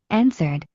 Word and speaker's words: answered: There is one letter that we are not pronouncing. Which one? The W. Do you remember I told you right wrote writing is not pronounced the W. One more time. We don't pronounce the W here. We don't pronounce this E as well. We say answered. Answered. We just forget this one. We drop that.